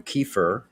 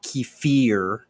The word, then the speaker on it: kefir: oh yeah bro i i refuse to call it kefir yeah because you're not a russian and you're not an indian who cares kiefer okay good it's no keeper is an acceptable pronunciation it really is it's a dialectical thing it's it's yeah you're